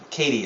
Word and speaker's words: CATI: And again, this software is called CATI, or CATI as some people pronounce it, computer-aided telephone interviewing, and that's the norm.